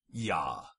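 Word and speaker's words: ja: sound this is like German J is pronounced with a Y as in the German word for yes yah Latin vowels come in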